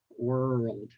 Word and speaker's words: world: World by the way the British they don't uh roll are like that they just say like world the world all